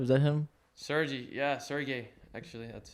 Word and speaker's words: Sergey: Sergey, yeah, Sergey. Actually, that's how you pronounce it.